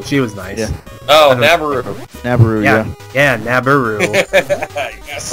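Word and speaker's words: Nabooru: For years, I thought it was Naboru, and then I heard her pronounce it Nabaru.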